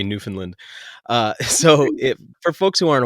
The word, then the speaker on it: Newfoundland: you see how like I'm quick to pronounce the land part after having visited you and learned I'm not allowed to say Newfoundland.